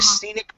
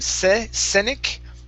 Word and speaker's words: scenic: okay so not the scenic back road sitting back road okay give me a e instead of senec it's scenic scenic very good not the scenic